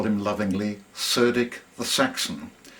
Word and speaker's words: Cerdic: we call him lovingly, Cerdic the Saxon. More properly, he'd be pronounced as Cerdic.